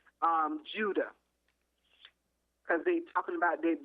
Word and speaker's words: Judah: Okay, yeah, if you want to say it in English, it's pronounced Judah.